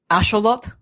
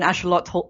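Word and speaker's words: axolotl: I believe so uh the x is an sh sound and the TL is a with the uh tongue at the Ro of the mouth at least in classical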